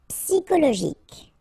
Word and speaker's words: psychologique: Okay, remember it's an exception here because you've got this C-H-O. Normally we should pronounce it sho, okay, but in that case we pronounce it ko. Psychologique. Remember, final Q-U-E like that. K. Psychologique.